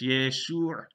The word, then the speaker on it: Yeshua: The only phonemes in this name are y, e, sh, u, and so it's Yeshuʕ. And you'll see that it's a long vowel there. It's not Yeshuʕ. It's not Yeshuʕ.